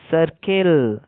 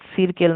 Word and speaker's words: circle: তারপর CIRCLE, সার্কেল, সিরকেল না হয়ে সার্কেল হচ্ছে।